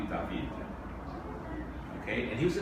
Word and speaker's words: David: So this is a painting by a guy named David. He didn't pronounce his name that way. They called him Jacques-Louis David.